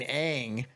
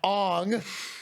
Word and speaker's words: Aang: One of the main things being his name is fucking Aang, not Ong.